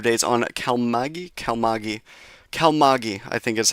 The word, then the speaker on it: Kalmaegi: I'm going to just double check the pronunciation of it real quick. I believe it is cal here. Kalmagi. Kalmagi. Kalmagi. That's the pronunciation of the storm.